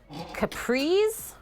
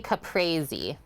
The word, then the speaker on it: caprese: up together here first is it capris or caprese i would say caprese like you got to say it like an italian wood right it's a caprese not capris and high oatmeal goat